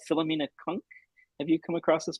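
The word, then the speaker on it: Cunk: Kunk rhymes just junk. I'll spell it out just in case, because I think it's supposed to be a funny pun as well. It's C-U-N-K, as in kangaroo.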